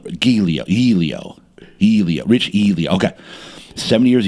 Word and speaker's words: Giglio: So beforehand, I'll go over the name pronunciation. And this one wasn't good. But Rich Giglio. Giglio.